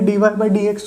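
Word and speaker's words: dy/dx: देखो इसको पढ़ोगे कैसे, प्रोनाउंस कैसे करोगे डी वाई बाई डी एक्स को, तो उसको पढ़ा जाता है ऐसे।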